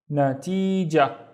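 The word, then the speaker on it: نتيجة: The first syllable here is na, and then ti, and then jah. Natija. Do I really pronounce the ta marbuta? Not really.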